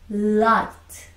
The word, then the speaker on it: light: 얘는요, 발음이 나지 않습니다. 아시겠죠? 그래서 L, L, I, T가 되는 겁니다. 이 IGH가요. I랑 발음이 똑같아요. 쓸 때는 반드시 써줘야 되지만 발음은 나지 않는다라는 겁니다. 아시겠죠? 그래서 light, L이니까요.